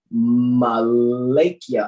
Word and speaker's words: Malakia: Book of Malakia says Islam Moor, it's pronounced Malakia. Oh, like Malachi.